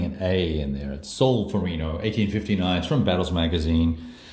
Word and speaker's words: Solferino: at a solar furry know that the correct pronunciation solar thorine oh I keep putting an A in there at Solferino 1850 knives from battles magazine a little game